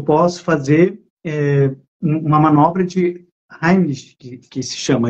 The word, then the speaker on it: Heimlich: fazer uma manobra de Heimlich, que se chama, é de um alemão, se escreve Heimlich, se escreve como se fosse Heimlich, se lê Heimlich, que é colocar a